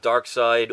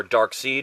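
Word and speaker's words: Darkseid: covered either way uh dark side or dark seed whichever way you want to pronounce it uh eventually is going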